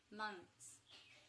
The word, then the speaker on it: months: So how to pronounce these pretty much at the same time is that N and TH, you can pronounce them pretty much at the same time.